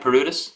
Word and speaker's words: Paroutis: Am I pronouncing that right? Paroutis? Yeah.